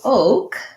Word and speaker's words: oak: So oak it follows one of our spelling rules, which is that when we have a stressed syllable, the letter O spelled with 2 vowels, like in road or coat, says the sound O. In American O, we glide between O and then we relax into the O.